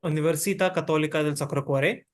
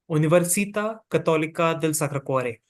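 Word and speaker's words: Università Cattolica del Sacro Cuore: in country representative for universita cathol sakare so this is typically how it's pronounced in Italian because we are an Italian University uh so this is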